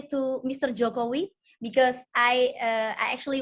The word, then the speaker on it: Jokowi: your concert please and his pronunciation is jacobi yes jokowi kobe all right hey